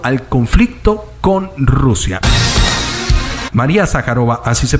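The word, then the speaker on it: Zajárova: de facto directo al conflicto con Rusia María sacarova así se pronuncia en las últimas horas suministrar que misiles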